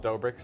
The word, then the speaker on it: Dobrik's: opening a pizza place called dobrik's spelled like pizza dough it's finally happening it's